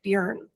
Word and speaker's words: Björn: And he's the one who told me I was pronouncing your name wrong and I needed to say Björn.